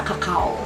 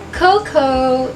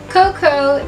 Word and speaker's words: cocoa: Subalit yung English word niya ay hindi binibigas na cacao.